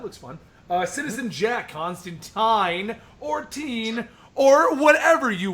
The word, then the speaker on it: Constantine: fun uh citizen Je Constantine or teen or whatever you want to say because it's actually pronounced tin for those of you